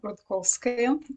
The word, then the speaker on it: Rudkouskaya: be amazing sure hi everyone i am rudkolskay and i don't expect many people to pronounce my surname it's a challenge i understand